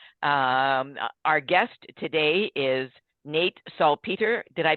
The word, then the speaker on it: Salpeter: Our guest today is Nate Salpeter. Did I pronounce that correctly, Nate?